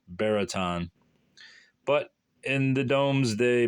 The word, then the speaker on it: Buriton: nestling under the Downs the name of the villages pronounced as it is often spelled bariton but in the Dom's